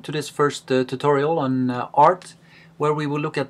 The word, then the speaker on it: Rt: most of the time pronounce the name of the computer program art instead of RT just like we uh